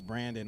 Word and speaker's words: Brandon: He's like, it's not Brian, it's Brandon.